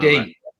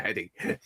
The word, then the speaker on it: Headey: Edie. Yeah, Edie. Yeah, sorry about that. You call her Headey.